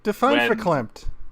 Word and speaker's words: verklempt: feeling of verklempt-ness when verklempt, please. The scientific word for the getting choked up. Right. Getting choked up with emotion. Right. Spelt with a V, but according to Google, pronounced with an F.